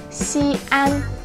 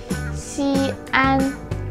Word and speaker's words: Xi'an: The Chinese name of the city is Xi'an, Xi'an. The tricky part is this X consonant is not necessarily sh or is not s, so it's like this in-between sound.Xi'an.